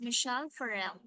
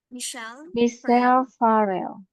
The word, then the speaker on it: Michelle Farrell: And this one, the name, we read it as Michelle Farrell. Michelle Farrell.